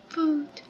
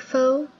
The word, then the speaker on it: pho: I believe you pronounce it like pho. Foo. Pho. You either pronounce it like pho or foo.